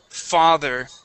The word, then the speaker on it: father: Here with the word father, you were pronouncing that TH like a D, saying father. Father. Okay, with the TH. Okay, yeah. Well, this is a voiced TH in this word. It sounds like a vibration.